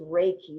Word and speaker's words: Reiki: about what was it called Ricky how you pronounce it Frankie Reiki no exactly is Reiki what do that stand for what does it